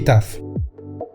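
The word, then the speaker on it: ταυ: Además, estos diptongos se pronuncian AF, EF e IF. Esto nos cambia las pronunciaciones de estas letras que pasan a ser Mi, Ni, Y y Taf.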